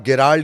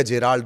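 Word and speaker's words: Gerald: तीसरा जिसे आप गेराल्ड या जेराल्ड, दो नाम कहते हैं, ये प्रोनाउंसिएशन का मामला है। उसकी स्पेलिंग दरअसल GE से शुरू होती है, तो कोई गेराल्ड बोलता है, कोई जेराल्ड बोलता है।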